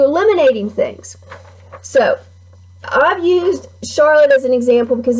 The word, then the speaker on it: Charlotte: This E is not pronounced in Charlotte. You don't use it. It's there for looks.